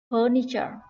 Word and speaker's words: furniture: Thứ nhất đó là từ furniture, trọng âm ở âm tiết đầu tiên ơ kéo dài.